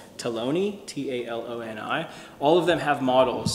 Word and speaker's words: Taloni: So like this one's called Taloni, T-A-L-O-N-I.